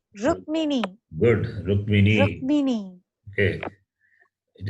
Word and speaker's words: Rukmini: Read letter by letter. What is the first letter in the word? Ru, Ru. It is ru. ki, It's not ru, key. ki. It is not key. Is it key? Kakara plus makara plus e. Oh, What is that? rum, Rakara. Rukmini.